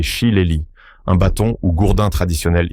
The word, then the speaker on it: shillelagh: Cet objet redoutable est un shillelag, prononcé shillelagh, un bâton ou gourdin traditionnel irlandais.